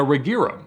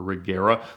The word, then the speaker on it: Regera: These were in fact an Agera RS and a Regera, or Regera, lots of different pronunciations, but the cars from Ängelholm, Sweden.